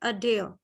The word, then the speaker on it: adhere: This is the correct pronunciation, adhere. Okay. Adhere. Adhere. Again, adhere. Okay. So UH is representing the lazy vowel sound Schwa.